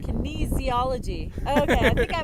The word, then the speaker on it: kinesiology: and he did kinesthesiology testing. Kinesthesiology. It's kinesiology. Kinesiology.